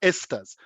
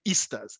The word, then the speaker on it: esters: And if I mispronounce a word, I used to say, this function group called Esters. I used to say Easters. He would say, Easter is a holiday.